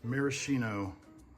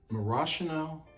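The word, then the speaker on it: maraschino: you'd like to some Marino cherries isn't that pronounced marashino Cherry oops I'll try to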